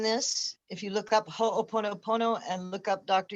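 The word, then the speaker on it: Hoʻoponopono: way that you would have us say it is spelled h o and then o pono pono ho o pono pono this is a hawaiian technique from dr e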